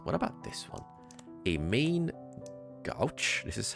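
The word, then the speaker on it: main-gauche: not okay so what about this one a main gouch this is how you pronounce it a small sword made of pairing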